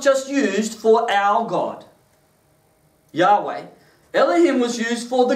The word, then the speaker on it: Yahweh: the our way or Jehovah depending on how you want to pronounce that Yahweh is most likely the most accurate way of saying it so there's whenever we